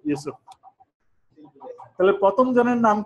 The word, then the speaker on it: Yusuf: এখানে জোসেফ লিখছে কিন্তু উচ্চারণ কি ইউসুফ।